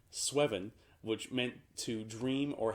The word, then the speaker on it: sweven: to pronounce that because it looks way too much like seven to not be pronounced with that rhyming scheme sweven which meant to dream